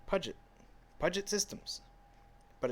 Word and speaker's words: Puget: Like the Puget Sound in Washington. As someone from Puget, it's Puget.